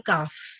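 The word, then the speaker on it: قاف: There's this qaf, which we have to pronounce, we have to round our mouth and then pronounce, and then we have the normal kaf. Okay, you see the difference? Kaf, when you say kaf, your mouth opens wider, and when you say this qaf, your mouth rounds.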